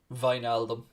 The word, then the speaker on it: Wijnaldum: That's exactly how you pronounce Wijnaldum.